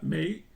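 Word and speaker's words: 霉: O sea que también se pronuncia mei y claro, pues está bastante evidente.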